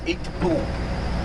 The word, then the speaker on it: Itpu: Pronunciation of the ancient Egyptian name, which was Itpu. So instead of saying D, they used to say T. Instead of saying F, they used to say P.